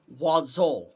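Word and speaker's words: oiseaux: bird uh is almost spelled like it would be spelled oy six it's like o e u s or like o e s i u x or something but you wanna know how you pronounce it it's wazol thank you french thank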